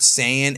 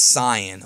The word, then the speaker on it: Saiyan: my channel is that I was pronouncing the word Saiyan as Cyan, okay? Now, I did a whole video about it, and ever since then, I got attacked ruthlessly in the comment section because I say Cyan, but the dub says Saiyan.